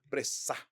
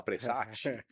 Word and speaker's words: Pressach: aqui de receber um rabino, o senhor Rabino Pressá. Pressá que fala, né? Pressá. Peça. Pressá. Pressá. Pressá. Se fosse o Silvio Santos estivesse aqui, o Silvio Santos ia falar Pressati, né?